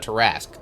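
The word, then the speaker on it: tarrasque: Okay, so a uh a terrasque then is how it's pronounced these days. I couldn't remember, but I I think teras it's terascu and terrasque. They're kind of interchangeable somewhat. I think terrasque terasque is the older way of pronouncing it and terascu is the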